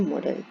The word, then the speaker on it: modal: MODEL मॉडल नहीं है, ये MODAL है और इसकी प्रोनाउंसिएशन कुछ इस तरह है कि MODEL में हम ई का छोटा सा साउंड निकालते हैं जैसे मॉडल, लेकिन इसमें आप समझ लीजिए कि डी के बाद डायरेक्ट एल है, आप ऐसे प्रोनाउंस कीजिए मॉडल।